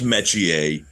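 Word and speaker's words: Metchie: Your name is Royce Metier.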